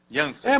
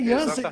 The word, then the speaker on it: Jansen: Eu estou pronunciando seu nome em holandês. Jansen. Mas meu nome é holandês, é Jansen mesmo.